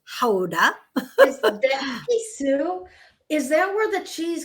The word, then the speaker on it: Gouda: I was in The Hague today, and yesterday we were in Gouda, which everyone pronounces as Gouda, but really it's Gouda.